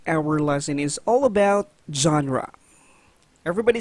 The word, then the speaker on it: genre: a french word meaning kind or graph we pronounce genre as genre right not gendry all right always remember pronounced as genre or genre the two word or the general